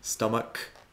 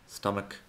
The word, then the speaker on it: stomach: Lo más común es pronunciarlo así, como ch, pero luego tenemos otras palabras donde la CH se pronuncia como si fuera una K. Stomach, ache, Christmas, chaos. Stomach, ache, Christmas, chaos.